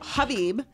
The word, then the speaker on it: Khabib: all well it's heavy people stop saying be silent silent K that's it okay so Habib Habib yeah I do want